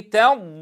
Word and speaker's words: تضليل: فضل ولا نقول طبلين نتنبه الى ترقيق التائه هنا الم يجعل كيدهم في تضليل تضليل تضليل فلم يجعل كيدهم